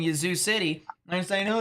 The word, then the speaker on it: Yazoo City: have been saying like usually I say Yazoo City all right but then people said I said it wrong it's a shorter a and so I started saying Yazoo City and I know it's